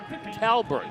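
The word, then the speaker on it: Talbot: great classic to 1938 Talbert Lago. And I gotta tell you, it's spelled T A L B O T, pronounced Talbert, like it's B E R T, if you can believe that.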